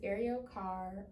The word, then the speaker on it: Arielle Carr: So, my name is Ariel Carr. Um, it's spelled out A R I E L L E and then my last name is C A R R.